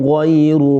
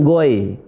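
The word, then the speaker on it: غير: Ghai, bukan goy. Bukan goy, pakai i. Ghai. Nah, coba saya baca lagi ya. Inna azaba rabbihim ghairu ma'mun.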